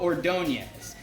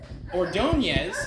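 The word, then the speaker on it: Ordóñez: I am mad at myself that I didn't know this guy beforehand, but this is Maglio Ordonez.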